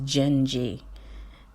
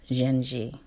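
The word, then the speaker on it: Dindi: know that you're so pretty you're supposed to pronounce it as gingy ji n - j ee I don't know Portuguese so I didn't know that's how you're supposed to pronounce it so di MDI is pronounced Genji and so let me tell you this song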